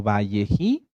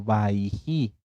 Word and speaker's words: Vayeji: hebreas en algunas tanaj como valleji o como baiji en ambas pronunciaciones están bien bji o baiji qué